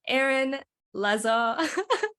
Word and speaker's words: Aeron Lazar: Today, here with me, I have Aeron Lazar.